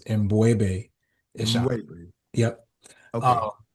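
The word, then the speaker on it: M'Bwebe Ishangi: So the correct pronunciation of my name is Mbwebe Ishangi.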